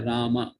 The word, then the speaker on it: राम: वैसे तो मंत्र के अंतर्गत इस प्रकार से कहने चाहिए रामा रामा, अकार आता है बाद में, राम के बाद अकार आता है तो उस प्रकार से रामा चाहिए।